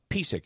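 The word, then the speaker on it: Piseck: John Pisak, is that how his name is pronounced?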